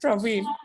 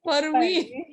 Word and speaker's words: Parveen: He reminds me saying that, hey, it is not Praveen, it is Parveen.